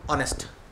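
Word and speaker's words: honest: ज्यांचा आवाज आवाज ठीक बोलतोय मी फर एम्पल ऑनेस्ट स्पेलिंग कशी आहे अशी एच पासन आहे याच्यामध्ये काय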